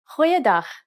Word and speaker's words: goeiedag: Try pronouncing it from the back of your throat.